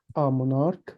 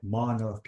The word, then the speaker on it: monarch: This is K. The CH is K. Monarch. Monarch, exactly. Monarch.